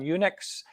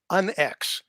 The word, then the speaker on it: UNX: So you've had a couple of changes lately, and you're on Unix. How do you say that? Did I It's pronounce that correctly? no, it's actually UNX. On X. Yeah, Okay. just the letters UNX, which really kind of stands for unexplained.